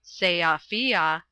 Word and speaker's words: Sofia: was last in Sofia, by the way it is pronounced Seafia, talking with Radovich.